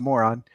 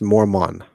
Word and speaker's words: Mormon: so am I going to go to a religion that requires self-discipline that my father, who's a moron, suggests that we do It's pronounced Mormon.